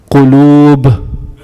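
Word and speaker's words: قلوب: Qulub. Qulub. And just a tip, a vowel with a line on top is a long sound.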